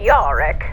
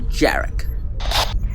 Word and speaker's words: Jarek: Their journey is interrupted once again by a transmission from the Grand Empress of Cgraphy, Captain Yoric. Actually, your grandness, it's pronounced Captain Jerick.